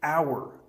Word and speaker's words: hour: Words like hour and judge might seem easy, but many learners get them wrong. The piano and Edith Knox every hour would stand on her hand. In the same way that you would judge someone. No H, no D.